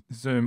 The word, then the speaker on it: Xoom: Zoom, which is spelled XOOM.